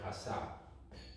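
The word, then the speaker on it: עשה: Which is pronounced asa, right? Ayin, this is a sin, and this is a hey, right? Asa. This is not a shin, it's a sin.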